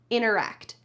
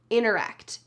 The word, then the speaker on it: interact: cut out that first T, and it sounds like interact, interact, interact. That T is just gone. It's on vacation somewhere, having a good old time. It's not in this word, interact.